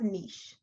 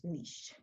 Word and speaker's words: niche: A niche is, it's pronounced niche, N-E-E-S-H, niche. Although it's spelled niche, but it's actually pronounced niche.